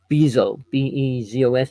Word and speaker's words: Bezos: but B-O-S, I can't even say his name, Bazo. How do you say it? B-E-Z-O-S, Bezos.